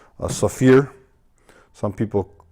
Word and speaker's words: Saphir: but primarily I use a product called a Saphir some people pronounce that sapphire I believe it's correct pronunciation so fear this is a like a shoe cleaner a